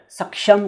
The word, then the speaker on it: सक्षम: को देख लीजिए, और यहाँ भी समझ लीजिए सुरक्षा और सक्षम का सही उच्चारण यही है जो मैं कर रहा हूँ।